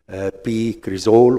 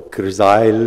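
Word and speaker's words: p-cresol: retention of uremic toxins, particularly p-crizole or crizyle, if you wish to pronounce it that way, and indoxyl sulfate, both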